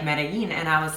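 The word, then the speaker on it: Medellín: know going to like medellin and i was like oh my gosh we're in the wrong spot like we're going to meddle in and it's like that's not how it's pronounced save your again what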